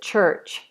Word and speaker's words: church: And in British English, which is different to American English, we do not pronounce these middle R's. So in this case, this is an which phonetically is this. Church, church. So in American English, this is church, church. They'd roll into the R sound. We say church.